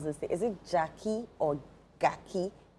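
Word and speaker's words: Gyakie: Is it Jackie or Gaki? The the musician. Yes. Or Jackie. Jackie.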